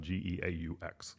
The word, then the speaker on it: geaux: dumpsters I'm talking about geaux the Louisiana go so that is the battlecry for LSU would be go Tigers but it's specifically G Au X you don't say it any different but if you spell